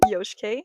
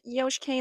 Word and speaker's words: Yoshike: under the same username, Yoshike. It is pronounced Yoshike like Yoshi. It is not Yosh like Josh. Please keep that in mind. It is Yoshike. Yoshike.